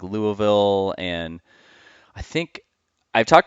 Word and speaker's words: Louisville: Louisville, as we say it, Louisville, all like one syllable.